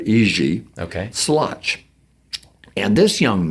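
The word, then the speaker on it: Jiří: name is uh j-i-r-i which they pronounce not Jerry but EG okay slutch and this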